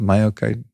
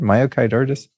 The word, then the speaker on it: myocarditis: Myocard. Is that what is that how you say it, Jared? Myocarditis.